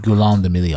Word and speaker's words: Guillaume de Million: If it doesn't rhyme, you're not pronouncing it Guillaume de Million.